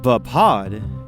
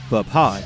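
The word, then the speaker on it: Vaapad: For me, it flows better to say pod instead of pad. So that's what I go with, but it could very well be wrong. But as it stands, I pronounce it as vapod.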